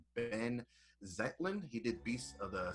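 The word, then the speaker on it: Benh Zeitlin: It's directed by, I do believe you pronounce, Ben Zetlin.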